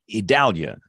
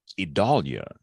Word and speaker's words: Idalia: from rural South Alabama I read it as idalia like Dao d-a-l like Dallas but everybody else is saying idalia so what's right you're